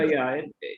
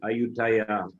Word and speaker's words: Ayutthaya: Ayutthaya, it's just a Thai pronunciation of Ayodhya. They pronounce Ayutthaya.